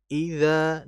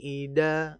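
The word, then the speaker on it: إِذَا: Idza di situ ada huruf dzal dan huruf dzal itu makhrajnya berada di lisan lidah bagian thfu bagian ujung yang diapit oleh gigi seri bagian atas. Jadi jangan dibaca seakan-akan seperti huruf dal. Wallaili ida misalkan.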